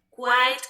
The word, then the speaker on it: quite: Se escribe quite. Hey, you are quite intelligent. Eres bastante inteligente. You are quite hardworking. Eres bastante quite. Quite. Y el otro es quiet.